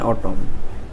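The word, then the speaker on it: autumn: तो 25 कौन कहूँ which letter is silent in ऑटम।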